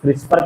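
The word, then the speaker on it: CRISPR: तो क्रिस्पर जो होता है एक मेथड है जिसको प्रोनाउंस क्रिस्पर करते हैं जो सी आर आई एस पी आर और ये जो है क्रिस्पर टेक्नोलॉजी ये जीन एडिटिंग का टेक्नोलॉजी है।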